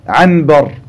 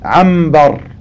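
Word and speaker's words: عنبر: Quand tu dis anbar, ceci est difficile à prononcer. Donc les Arabes ne prononçaient pas anbar, l'ombre, anbar. Ils prononçaient ambar, car la lettre mim et la lettre ba ont un point de sortie qui est très proche.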